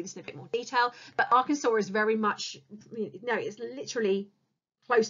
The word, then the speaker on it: Arkansas: next door to Kansas so I know that looks like you pronounce it as bad Kansas but it's Arkansas so nine back students